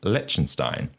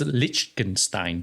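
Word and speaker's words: Liechtenstein: into a bank within legenstein okay lonstein is a bit of a tax Haven yes legenstein Le I think he's saying it wrong am I I think it's lichenstein lichenstein I think so sorry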